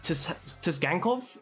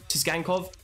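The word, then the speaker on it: Tsygankov: botch this man's name, but Tisgankov, I think that's how you pronounce it, Tisgankov.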